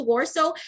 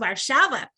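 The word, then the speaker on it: Warszawa: words you know because before i went to warso i thought that that's how it was pronounced and then i learned it's pronounced varshava so i remember hanging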